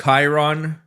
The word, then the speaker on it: Chiron: Actually, it's pronounced Chiron, sir. Chiron is from the Greek mythology. He's a centaur.